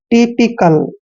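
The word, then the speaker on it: typical: करना है नेक्स्ट है टी वाई पी आई सी ए एल यहां पर देखि टी को हमने ट पढ़ना है और वाई को ई की मात्रा पढ़ते हैं पी को हमने प पढ़ना है आई को ई की मा मा यानी टीप और सील को कल पढ़ते हैं टिपिकल ठीक है ना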